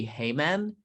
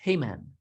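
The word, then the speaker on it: Haman: you congratulations you may hey man you may said the king that guy's name is hey-man or in some languages it's pronounced that way hey man esther you're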